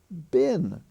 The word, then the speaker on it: been: be uh it's it's pronounced as if it were spelled b-i-n but it's written spelled b-e-e-n as I say that's